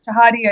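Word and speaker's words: Chehadé: And ICANN's new CEO, Fadi, how do you pronounce his last name? Shoot, I'm going to... Shahid? Chahadi? Yeah, Chahadi, I think is how it's pronounced.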